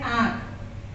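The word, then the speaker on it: आँख: जैसे इसका उच्चारण है आंख, अभी आंख के ऊपर देखिए चंद्र बिंदु लगा है, इससे आपको स्पष्ट हो जाएगा कि ये अनुनासिक वर्ण है।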